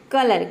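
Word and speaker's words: colour: silent रख सकते हैं किसी भी वर्ड के अंत में अगर आर आता है तो वहां पे आर को आपको क्या प्रोनाउंस करना है आधारा प्रोनाउंस करना है या फिर आप चाहे तो इसे साइलेंट रख सकते हैं ठीक है कलर कलर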